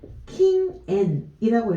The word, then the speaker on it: 禁煙: 지금 금연 어떻게 읽었냐면은 킹앤이라고 읽었는데 흡연은 우리가 키츠앤이라고 들릴 거예요. 키츠앤이라고 들리게 되는데 금연은 지금 한자를 옆에다 한번 써볼게요. 금할 금자죠. 이 금할 금자는 음독으로 읽을 때 킹이라고 읽게 되죠.